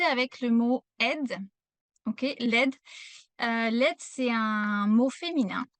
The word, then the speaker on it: l'aide: quand on utilise l'article, il y a beaucoup d'erreurs de prononciation parce que c'est l'apostrophe. Et en général, mes élèves, surtout si vous parlez anglais, vous voulez mettre une syllabe sup supplémentaire. Par exemple, dire le aide au lieu de dire l'aide.